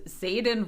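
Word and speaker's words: Xaden: most important person we meet in this is Zaden now if you're curious how that's spelled it's x a d e n in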